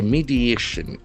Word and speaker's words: mediation: India will never know except a mediation. M E D I A T I O N. As we notion endings must be announced. Mediation. Mediation. There are four syllables and accent falls on the third syllable.